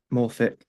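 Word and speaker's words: Morphic: That is literally just um m uh o r p h i c Morfic. Like that. That's how it's spelled.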